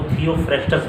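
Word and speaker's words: Theophrastus: थियोडार करके से लिखा जाता है, लेकिन हिंदी में उसको ऐसे हम लोग अपने प्रोनाउंसिएशन में उसको थियोफ्रेस्टस बोलते हैं।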